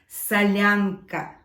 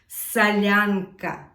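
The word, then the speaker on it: солянка: we will be making Sasha's favorite soup let's pronounce the name of this soup salyanca salyanca salyanca there are a few types of salanka few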